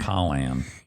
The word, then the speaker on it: Pollan: Like the kind that would give you the sniffles? Pollan. Pollan. Sure, but I think you would No, you're saying it correctly, Okay, but I'm just phonetically it is spelled like Pollan.